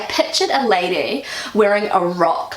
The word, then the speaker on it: Rock: this in German and that is the word rock and rock you know it means a big